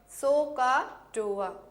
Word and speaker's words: SOHCAHTOA: remember these relationships of trigonometric functions it is pronounced as sohcahtoa soh stands for sine of an angle is